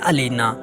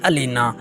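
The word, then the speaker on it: Alina: आज का पहला हमारा नाम है अलीना जिसके अंग्रेजी के स्पेलिंग हैं ए एल आई एन ए अलीना जिसके मैनी है खूबसूरती लेकिन नामंजूर दूसरा नाम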